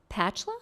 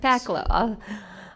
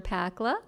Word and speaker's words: Pakla: your last name sir it's pacla like you're packing your bags Paca awesome um welcome uh commissioner pakla uh we look forward